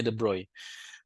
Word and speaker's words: de Broglie: Nah, sekarang melalui teorinya the broy atau saya bacanya the broccoli ya biar gampang. Tapi B sebenarnya bacanya the broy.